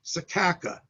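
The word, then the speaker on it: Secacah: It's probably some place called in the Bible Sekhacha, which is pronounced in English Bible language, Sekaka, S-E-C-A-C-A-H, right?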